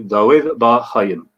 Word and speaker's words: David Bar Haim: As best as I can do it, it would be David Bar Haim. Perfect. Thank you. Although my resh there was not good.